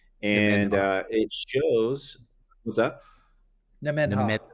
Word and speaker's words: Nemenhah: Nemenhah. Nemenhah.